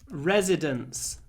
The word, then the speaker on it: residence: difficult um because actually of course residence the noun and residents sound basically the same residence residents yeah so